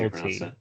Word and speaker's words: Elle Tea: That's LT. It's just I didn't want to say it like that, otherwise it would be like the letter L then the letter T, and that's just not what it is.